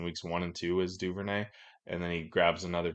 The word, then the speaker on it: Duvernay: about for Bateman is devernay just keep I think I'd say his name wrong Devin Duvernay keeps uh just just